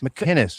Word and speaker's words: McInnes: McInnes. It's a hard C. McInnes? Yeah, there's no G's.